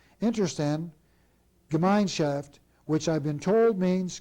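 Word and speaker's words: Interessen-Gemeinschaft: IG stands for, and I'll pronounce this the best I can, Interstand Gemeinschaft, which I've been told means community of interest, or more simply, cartel.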